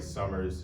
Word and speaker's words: summer: And the word summer, the first syllable, sum, is the stressed syllable.